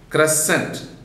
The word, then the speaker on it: crescent: Crescent, C-R-E-S-C-E-N-T, that C is deleted there.